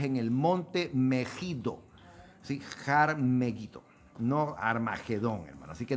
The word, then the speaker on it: Har Megiddo: monte, y por eso pues en hebreo se pronuncia de esa manera. Har Megiddo, no es Armagedón, hermano. Esa es una pésima interpretación o una pésima transliteración del nombre de un monte que se llama Har Megiddo.